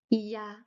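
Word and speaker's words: 亚: That is pronounced ya, ya, with a little slide of the tongue.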